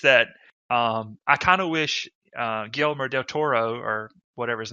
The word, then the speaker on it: Guillermo del Toro: It's just that I kind of wish Guillermo del Toro, or whatever his name is.